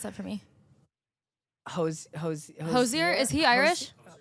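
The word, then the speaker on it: Hozier: pronounce that for me Hosier is he Irish hoser no no no Hosier Hosier Hosier do you believe that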